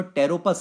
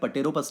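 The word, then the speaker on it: Pteropus: ये जो आपको बाहें फैलाता हुआ जानवर दिख रहा है ये बच्चों टेरोपस है। पी साइलेंट होता है। पटेरोपस नहीं बोलते बच्चों। ये टेरोपस है।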